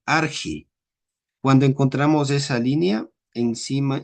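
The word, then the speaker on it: ἀρχή: En la transliteración eh no vamos a tener nuestro sonido che, sino que por ejemplo acá le iríamos en arge.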